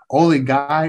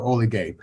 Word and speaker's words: Oligye: No, you can pronounce it two ways. Oli Guy or Oli Gay.